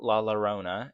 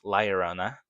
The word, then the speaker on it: Lyona: This one is not Laona, it's Lyona.